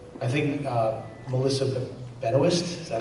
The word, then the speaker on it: Benoist: uh I think U I think uh Melissa Benoist is that how she pronounce Ben actually actually yeah she's in a